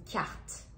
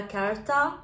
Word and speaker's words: carte: Donc là, on a le mot une carte. Donc attention, on dit pas carta. Non, ça souvent je l'entends. Mais non, on a carta.